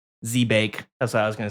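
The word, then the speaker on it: Zebak: How would you pronounce pronounce zed e b a k z e b a k zebec? Yeah, zebic. That's good. Okay, zbake.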